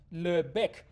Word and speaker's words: Lebesgue: this thing is called Le the S is not pronounced why I'm going to